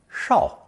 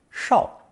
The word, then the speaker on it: 绍: It's pronounced fourth tone, shao, shao.